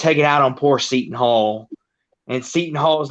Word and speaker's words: Seton Hall: I've always called them Satan Hall for some reason. I thought that's how they pronounce their name.